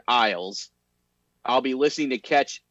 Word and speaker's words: Isles: talking rizzoli and isles it's pronounced the same as the word isles i'll be listening to